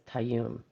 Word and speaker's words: Tayyum: Tayyum says you pronounce it right the first time, so it's Tayyum.